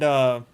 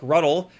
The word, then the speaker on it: Rutte: So Trump and Rutte, that's how I'm going to pronounce his name. Trump Rutte announced really big NATO arms package amid new 50-day deadline.